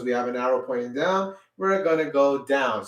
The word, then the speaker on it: do: syllable known as do d-o d-o is sounded as dough everybody say do good